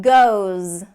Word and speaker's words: goes: Z sound on it goes goes and this one can't sound like ghost again that T there